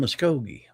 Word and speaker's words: Muskogee: Nobody can pronounce Muskogee. I can. Just listen to the song, "I'm just an Okie from Muskogee."